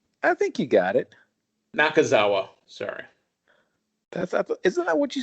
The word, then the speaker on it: Nakazawa: against the team of Kenny Omega and Michael Tozawa. Did I say his last name right? I might have said his name wrong, and I apologize if I said his name wrong. I think you got it. Nakazawa, sorry.